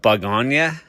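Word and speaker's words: Bugonia: I haven't heard it actually pronounced out loud, but I believe you call it Bug Ona.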